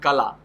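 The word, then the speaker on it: काला: For example, the word kala. In word kala, ka syllable ka is stressed because ka is weak and la is heavy, but heavy syllable at the end at the right s is not stressed.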